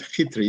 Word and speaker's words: Chytry: My name is a Czech name, and it's actually pronounced, but we don't need to do that, CHYTRY. So CHYTRY would be fine. CHYTRY is a normal way of pronouncing it. Second, a little bit of CHYTRY, as a k. It's really a h, but you don't pronounce h in English.